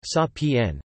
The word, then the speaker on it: Sapan: Salted salmon, an Inuit dish of brined salmon in a heavy concentration of salt water, left for months to soak up saltsapan, pronounced sa-p-n, cornmeal mush, a staple of Lenape cuisine.